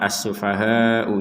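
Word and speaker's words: السفهاء: dari kata asufahau nah kata asufahau ini kita harus membaca ya 4 sampai 5 harakat untuk huruf Hnya ya contoh Nah jadi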